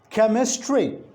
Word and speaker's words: chemistry: we have a word chemistry if you look at the initial two alphabets c and h it is pronounced as curl the alphabets are ch and the phoneme is k if you write the